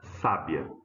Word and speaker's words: sábia: Então, como que eu pronuncio essa primeira palavra? Sábia. Veja que o acento está dizendo para mim que a sílaba tônica é essa, né? Ó, sa.